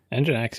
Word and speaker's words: Nginx: How do you pronounce that? Nginx? Nginx, you got it.